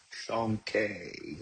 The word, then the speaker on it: Shanke: Shanke is how you say it.